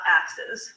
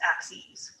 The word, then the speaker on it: axes: axes go ahead and write out how that's pronounced as well it's not axes it's axes so we have the horizontal one which is